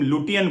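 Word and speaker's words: Lutyens: कहते थे कि तुम लुटियन बोलते हो, ये लटियन होता है। तो हर बार आकर वो करेक्ट कर जाते थे, ये लटियन बोला करो, लुटियन मत बोला करो।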